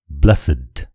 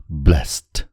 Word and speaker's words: blessed: यो शब्दको उच्चारण सुन्नुस्, blessed। यहाँ यो शब्द विशेषणको रूपमा प्रयोग भएको छ, तर यदि यही शब्दलाई verb अथवा क्रियाको रूपमा प्रयोग गर्दा यसको उच्चारण हुन्छ blessed।